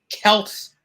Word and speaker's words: Kelt's: Shout out to Kelt's Chronicle. I hope I said it like Melts, but I put with the K.